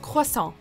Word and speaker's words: croissant: Oh, Tom, we get that this French pastry is tough to pronounce, but of all the passable ways to say it, croissant is not one of them. Try it with us, croissant.